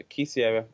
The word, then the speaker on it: quisiera: you do know so quisiera a key over Sierra Leone that's what I'm experimenting